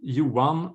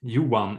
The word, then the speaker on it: Johan: In Sweden, you say Johan or Johan if you're from the north of Sweden.